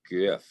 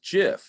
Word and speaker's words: GIF: the late 1980s that the pronunciation is jif with a soft g as in gelatin or giant that pronunciation is even